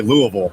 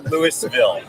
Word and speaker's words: Louisville: know how that pronounces i say louisville it's not like normal people it's not lewisville no no there's an s in it yes so i'm here